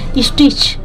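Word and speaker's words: stitch: शुरू किया या लगे स्टिच देखिए स्टिच सी एच के पहले टी होता है साइलेंट होता है इसमें भी देखिए स्टिच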